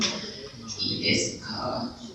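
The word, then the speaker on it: ですか: When do you not pronounce the U? Like, desu, doko, deska, desuka, you know. Desu ka, desu ka. It's like, honestly, I'm pronouncing it, but it just accent and yeah, and the end, blah blah blah, desu. Yes, the end we kind of cut the U sound. It's just shorter su sound.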